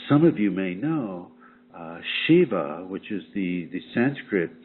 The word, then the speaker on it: Shiv: of you may know Shiva which is the the Sanskrit term for sacred mail is sometimes spelled SIV and pronounced Shiv and and I got